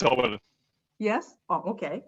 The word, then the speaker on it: Orwell: Yes, it's Orwell. Yes. Oh, okay. Yeah, it's named Orwell. It's referred to George Orwell.